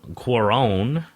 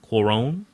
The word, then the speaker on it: Cuarón: It was directed by Alfonso Cuarón. Cuarón?